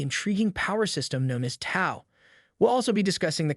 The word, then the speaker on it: Tao: power system known as Tao. We'll also be discussing the concept of Tandon, an essential aspect of this power system. Tao, pronounced Dao, is drawn from Chinese philosophy